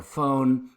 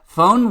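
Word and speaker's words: Föhn: it's fun you know it has to be said like you've got a german or a french accent or something so um it's like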